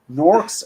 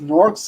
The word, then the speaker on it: Gnorc: Norks and nasties. Norks is spelled Gnorc, as in gnome plus orc.